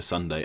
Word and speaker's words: sundae: They are pronounced identically, with just a slight spelling variation.